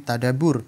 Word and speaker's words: tadabbur: Dalam KBBI disebut dengan tadabbur. Nah, KBBI Kamus Besar Bahasa Indonesia ya. Kalau di bahasa Arabnya itu tadabbur. Ba-nya ada tasydid.